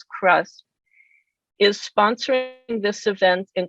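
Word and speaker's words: CHRUSP: moderator today the center which we abbreviate as c-h-r-u-s-p and pronounce as crust is sponsoring this event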